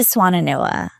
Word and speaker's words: Swannanoa: me how to say it we went to swanana NOA okay so swanana NOA the swan NOA Valley um there was just